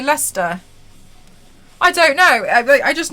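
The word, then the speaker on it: Leicester: you can't really talk there's this weird tube stops in London where you all don't pronounce half the word Lester like that's a trap what did you call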